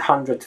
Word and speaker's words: hundredth: video nobody really says it's the hundredth video it's a hundred and speaking of the unvoiced version the th did sound as in the word um right it becomes T it's more like T hundred but for the hundredth